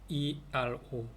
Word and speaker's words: ingeniero: INGENIERO. 그래서 엔지니어 얘기하는 거예요. Soy ingeniero. G가 됐으니까 해 발음이 되겠죠.